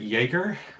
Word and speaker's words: jaeger: go with the Pomeranian Jagger, whatever that is. I'm not sure. So my understanding is you pronounce it Jaeger.